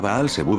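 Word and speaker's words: Baal Zebub: el televisor belsebu corrompido bbu en su verdadera pronunciación hebrea baal sebu era el ídolo de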